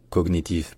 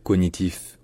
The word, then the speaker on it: cognitif: prononcer donc voilà donc disons que de manière plutôt exacte c'est cognitif pour être vraiment fidèle à l'origine par contre dire cognitif ou cognitif c'est quand même relativement courant bref si jamais il